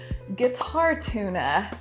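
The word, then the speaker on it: GuitarTuna: in handy is called guitar tuna and yeah i'm not mispronouncing that it's actually guitar and then t-u and a like the fish but it is a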